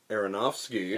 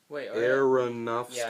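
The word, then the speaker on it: Aronofsky: a human scale Darren aronowski arosi Darren arosi uh no it's aronovsky I am pronouncing that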